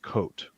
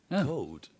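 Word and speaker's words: Koot: was coot k-o-o-t but it's pronounced coat coat so that's just the dutch thing okay good so do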